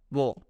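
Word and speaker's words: 워: The second one is wo, wo, okay. It is written WO, but it is pronunciated as W and EO, wo.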